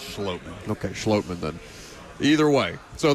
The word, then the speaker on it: Schlottmann: Pronounced Schlottmann.